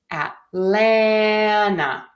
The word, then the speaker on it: Atlanta: In both cases, we are going to stress the middle syllable, the lan. Atlanta.